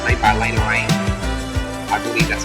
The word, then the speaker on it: Lena Raine: And wow, it's made by Lena Raine. I believe that's how you pronounce it. Lena Raine.